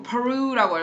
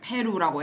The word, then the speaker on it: Peru: 그 다음에 long pack, past people, Peru, Peru라고 읽어요. Peru, 이렇게 페루라고 읽지 않아요.